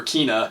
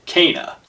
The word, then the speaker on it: Kena: pronounced that way because i definitely thought it was going to be kenneth or kena it's kana and as always thanks